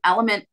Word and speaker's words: LMNT: Element makes a really good one. It's LMNT.